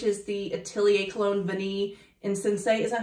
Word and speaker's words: Insensé: This one right here, which is the Atelier Cologne Vanille Insensé. Is that how you say it? Insensé.